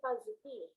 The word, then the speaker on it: PAZTI: PAZTI dibacanya Paziti.